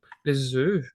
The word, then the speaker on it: œufs: Alors, on dit les œufs même si ça s'écrit comme ça. This is something that we talked about, like for the F that becomes mute with the plural.